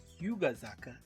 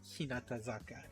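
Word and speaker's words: 日向坂: in at least Tokyo, there is the kanji for hi mukai saka, but that's actually pronounced Hyugazaka. So, and actually, funny enough, on the side of that post, it does actually say that explicitly that some people mistakenly call this slope Hinatazaka.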